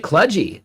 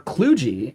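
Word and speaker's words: kludgy: It's a bit cludgy or or cluji, right? Depending on how you pronounce it.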